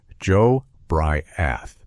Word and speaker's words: Jobriath: His name was Joe Briath, pronounced Joe Bry-ath.